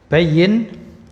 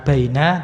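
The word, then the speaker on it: بيّن: Bayyin. Nah, ini bukan baina tapi bayyin.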